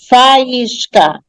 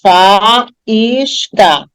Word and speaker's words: faísca: Faísca. A mesma coisa, tem 3 sílabas. Faísca.